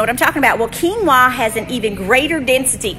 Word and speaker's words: quinoa: So when you eat the quinoa, and it's spelled quinoa. You spell it like quinoa, but it's said quinoa because it's a foreign word.